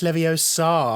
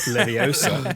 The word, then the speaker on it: Leviosa: And if you say it wrong, Hermione's voice comes out the thing, and it's Leviosa, not Leviosa.